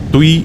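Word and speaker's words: Ptuj: പട്ടണത്തിലേക്ക് പോകാനാണ് എൻറെ തീരുമാനം പല സ്ലോവേനിയൻ വാക്കുകൾക്കും ഇംഗ്ലീഷിൽ അവയുടെ സ്പെല്ലിങ്ങിന് അനുസരിച്ചല്ല ഉച്ചാരണം തുയ് എന്ന പട്ടണത്തിന്റെ spelling P ടി യു ജെ എന്നാണ് ബ്ലഡ് പട്ടണത്തിന്റെ ജനവാസ കേന്ദ്രങ്ങളാണിത്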